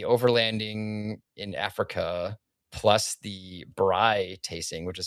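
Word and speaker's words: braai: But the overlanding in Africa plus the bri tasting, which is spelled B R A A AI.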